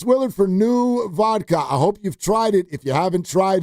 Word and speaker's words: NUE: new vodka, which is spelled NUE vodka.